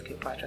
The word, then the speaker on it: Clyopatra: But it's Cleopatra, but the only difference is that my regular name is spelled as C-L-E. But for my fashion line, you can swap an E for a Y, so I swapped it. And that's why it's Cleopatra.